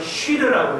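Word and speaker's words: שיר: 여기 보통 히브리 말로 찬송이라는 말을, 히브리 말로는 쉬르라고 해요. 쉬르. 쉬르라고 그러는데, S-I-R, 쉬르라고 그러는데, 히브리 말로 S-I-R이에요. 영어는 시르가 되겠지만 그렇게 안 하고요. 쉬르가 되겠습니다. 쉬르.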